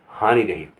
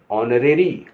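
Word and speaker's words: honorary: HONORARI यहाँ हॉनरी नहीं कहेंगे, ऑनरेरी, ऑनरेरी, ऑनरेरी।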